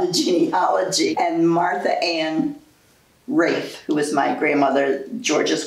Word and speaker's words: Ralph: And Martha Ann Rafe, who was my grandmother, George's wife. Right. It's spelled Ralph, but pronounced Rafe. It's the Old English thing. It's very important to her to pronounce it Rafe.